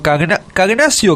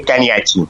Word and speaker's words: Cagnacci: Cagnacio Cagnacci. Si lo querés pronunciar bien, es Cagnachi. A Lotano es Cagnachi.